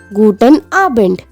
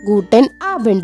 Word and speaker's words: Guten Abend: the evening we say guten abend gu tent ah bend guten abend which means good evening